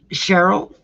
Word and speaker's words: Cheryl: Cheryl, like Carol. I finally remembered how to pronounce it right.